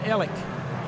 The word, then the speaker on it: Alex: were raised here, and they've always called it Ellick. Yeah, and so I looked it up, and on the Wikipedia or whatever it is, it says the correct pronunciation is I-L-E-K, Ellick.